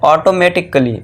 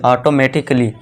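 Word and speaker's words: automatically: फिर है ऑटोमेटिक कली। ऑटोमेटिक कली नहीं यहां देखिए दोस्तों कली है। ठीक है दोस्तों? काली नहीं यह कल काली मत पढ़ना इसे। इसे क्या पढ़ना? कली। ऑटोमेटिकली। क्यों? क्योंकि यहां पे ए के बाद क्या है दोस्तों? डबल एल वाई है। तो इसे हम क्या कर दें? ए को यहां पे साइलेंट रखेंगे।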